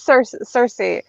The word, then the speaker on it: Circe: Circe, is it Circe? Is that how you say it? Yeah, it is Circe.